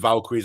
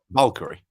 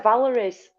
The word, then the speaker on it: Valkyrie: Valkyrie. Valkyrie. Yeah. I keep wanting to say Valeries.